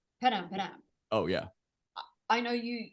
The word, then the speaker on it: Padam Padam: how many times a day do you hear Padam Padam pronounced wrong? Well, firstly, I love how the Americans say We say it wrong every time. Padam Padam. Like Padam Padam. Or uh Padam Padam.